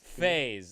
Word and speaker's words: phase: Oh, phase.